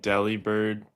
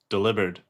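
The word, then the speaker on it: Delibird: Do you guys think Deli Bird is supposed to be pronounced Deli? Yes, it it was. And we've all been played this entire time. I saw that short. It's supposed to be. So there's deli bird and then there's what is it Oliver? Delivered. Like delivered.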